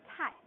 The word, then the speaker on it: 太: You pronounce it tai.